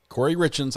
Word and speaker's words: Corey Richens: Corey Richens.